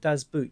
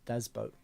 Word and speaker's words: Das Boot: I read recently that you do not call it Daz boot you actually say dobat oh well there you go even though it's spell boot but uh the actual proper pronunciation is boat so do boat Wolf Gang Peterson I